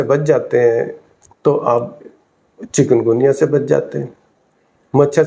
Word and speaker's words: چکن گنیا: بیماری لگ رہی ہے، حالانکہ صحیح جو اس کا تلفظ ہے، پروناؤنسیشن، وہ چکن گونیا نہیں ہے، بلکہ چکن گنیا ہے.